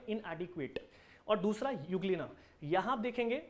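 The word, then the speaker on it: Euglena: करता जिसका नाम है युगल क्या नाम है यूग्लीना यूग्लीना इसे लोग ऐसे भी लिखते हैं सबके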